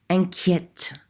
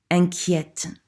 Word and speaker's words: inquiète: Inquiète. Inquiète. You notice in the masculine form, there's no accent over that E. That changes the way that it's pronounced.